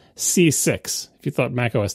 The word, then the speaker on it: CCIX: don't know anyway and it's pronounced C6 if you thought Mac